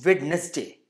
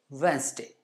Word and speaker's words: Wednesday: Same way, it's not Wednesday. It is Wednesday.